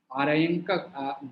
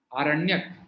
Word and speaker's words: आरण्यक: और कृष्ण यजुर्वेद में जो आर्यंकक, देखिए क्या बोलेंगे, आर्यंकक, मैं इसका वो स्पेलिंग गलत लिखा हुआ मुझे लगा, आरण्यक, हाँ ठीक है।